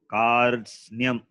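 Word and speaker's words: कार्त्स्न्यम्: So how can it be Kat? It must be Kar. Repa is the letter follows. So Kartsnyam. So Kartsnyam. Now it is pronounceable. It's a difficult combination, but become pronounceable when you have the vowel at the beginning and also the vowel at the end. Is there. So it becomes pronounceable. Kartsnyam. It should be read as Kartsnyam. Kart, Karts, Kartsnyam.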